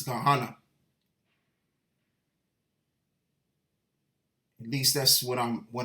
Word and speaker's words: Gehenna: I believe it's supposed to be pronounced Gehenna, something to that equivalent, not Ghana. So I was wrong with that. It's Gehenna.